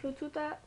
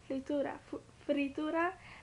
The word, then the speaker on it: fritura: Panamanians already know what frututa is, but like frututa, I'm saying it wrong. Fritura, like, that's like a fry, like, you know, empanadas and all that kind of stuff.